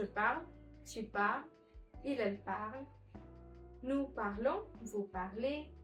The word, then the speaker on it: parle: So it's je parle, tu parles, il, elle parle, nous parlons, vous parlez, again il, elle parle. Not parlons, not parlant, not any other XYZ pronunciation.